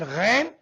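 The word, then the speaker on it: غ: Number 4, Kha and Ghain, out of 6 huruf halqiyya, last 2 will be pronounced from Indal Halq, the throat which is near mouth.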